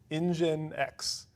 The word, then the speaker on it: nginx: you've ever seen it it looks like Minx it's it's one of those like you don't know how to say it until you hear someone else say it and you're like okay okay I get it all right so engine x uh nginx does a